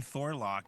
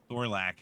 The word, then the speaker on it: Thorlack: You keep calling me Thorlock too, so that's How do you say yours? Thorlack. Thorlack. Like the Thorlack.